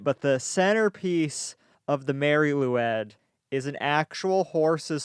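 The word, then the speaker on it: Mari Lwyd: the maryloud from wales they say that right mary lou i think it's loud lou ed okay it's very it's spelled m-a-r-i space l-w-y-d because you know the welsh they just don't believe in vowels this is a strange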